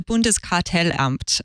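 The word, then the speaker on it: Bundeskartellamt: thing or two about German so you can pronounce the name of the regulator for us Rosemary uh so it's the bundes cartel amped which is like a more bureaucratic organization rather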